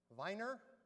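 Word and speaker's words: Wiener: And if we pronounce it with the German V miner, Viner is the citizen of the city of Vine, Vienna.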